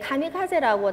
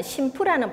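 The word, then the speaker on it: 神風: 우리가 이제 카미카제라고 잘 알려져 있지만 일본에서는 심프라는 발음으로 더 잘 알려져 있습니다.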